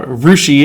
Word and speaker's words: Russia: citizen science from r rushi with love uh rousi is a real small rural community that I teach at uh it's spelled Russia uh but we pronounce it weird